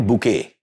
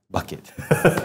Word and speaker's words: Bucket: is bucket right yeah is it pronounced bucket or bouquet bucket I don't know the